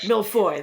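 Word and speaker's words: mille-feuille: How do you pronounce that? Millefeuille.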